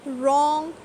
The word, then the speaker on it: wrong: Right, whole, wrong, who, writer. In all of these words the letter W is silent.